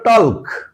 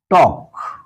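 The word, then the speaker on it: talk: pronunciation হচ্ছে নো একইভাবে আমরা যখন লিখি টি এল কে এর উচ্চারণ হতে হতো টলক কিন্তু আমরা কি বলি টক তাহলে যখন লেখার সঙ্গে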